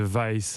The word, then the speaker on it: Vice: pour un Suédois pour le média Weiss France ou Miss France on peut le prononcer comme on veut on l'a appris après 15 ans d'existence le bureau français de vice va fermer ses portes